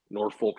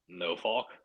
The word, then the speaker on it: Norfolk: I'm not kidding like people in Virginia will say you're wrong what how do they say it like no Fulk no Faulk yeah I swear to God like that's swear to God I'm telling you Trey it's like I have a spoon but no Faulk yeah how do it